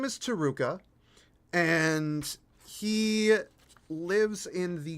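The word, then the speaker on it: Taruca: who Tua is um so his name is taruka and he lives in the great city of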